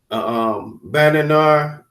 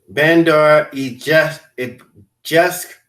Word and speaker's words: Bandar Jask: military acknowledged the naval activity, the missile test from Iranian Revolutionary Guard base Bananar is. Let me just Mm. get the real saying how to say it. It's a Bandar Jask in southern Iran was not been previously reported.